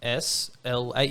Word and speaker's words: Ysla: Yeah, her name is Isla Rose, Isla Rose, nice. but it's spelt YSLA.